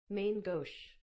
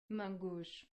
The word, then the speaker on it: main gauche: mango shaming Gauss Magoo's main gauche mangoush main gauche mangoush main couch silent e it's French I don't know how to say properly I couldn't ever do